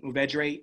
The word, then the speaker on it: Mourvèdre: Mourvèdre is how they pronounce it in Southern France.